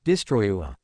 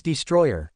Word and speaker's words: Destroyer: That her pronunciation is a bit off. It's Destroyer Nanoda. Destroyua. Destroyer Nanoda. Destroyua. Repeat after me Nanoda. Destroyer. Destroyua. It's Destroyer, not Destroyua.